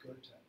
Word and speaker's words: Goethe: Looks like Goethe, it's pronounced Goethe.